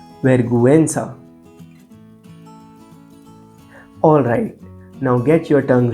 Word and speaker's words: vergüenza: with the diaresis, then the U is actually pronounced. For example, pinguino, vergüenza.